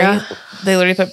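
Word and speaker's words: Ary: in parentheses, pronounced like Ari. They literally put pronounced Ari, like Ariana Grande, period.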